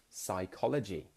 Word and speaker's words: psychology: Psychology. So that PS sound, psychology, we don't say the P.